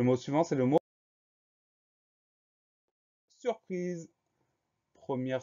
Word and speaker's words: surprise: Le son Z, on l'obtient avec un S, puisque celui-ci est encadré par deux voyelles, le I avant, le E après.